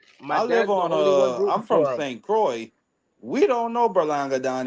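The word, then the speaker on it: St. Croix: you say C Cy St Cy how you spell that a DOT c o iix St Croy oh okay okay okay okay I got you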